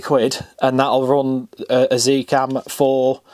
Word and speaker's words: Z Cam: That's about 20 quid, and that'll run a Zcam for, I hate saying Zcam, being British, I want to say Zcam, but this Kinson has said it has to be pronounced Z, so there you go.